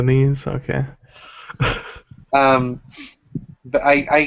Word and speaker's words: NES: SNES or Ness ones it's it's pronounced the sneeze sneeze in the knees okay um but I